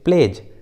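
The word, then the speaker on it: pledge: हैं तो डी का उच्चारण नहीं करते, डी साइलेंट होता है। जैसे प्लेज, हेज, देखिए दोनों इंग्लिश वर्ड्स में डी और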